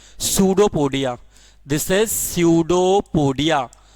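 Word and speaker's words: pseudopodia: This is सूडोपोडिया, P silent होता है इसमें, इसको हम लोग बोलते हैं सूडोपोडिया।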